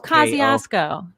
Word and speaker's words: Kosciusko: How do you pronounce that one, Katie? I actually don't even know what it's the school. Kosciusko. Oh, Kosciusko.